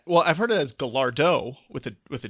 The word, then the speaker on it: Gallardo: not even an insult soldier boy could not pronounce gallardo which is a lamborghini gallardo g-a-l-l-a-r-d-o it's italian and throughout his video challenging bow wow he kept calling it a galago with a with a heart g in there which doesn't exist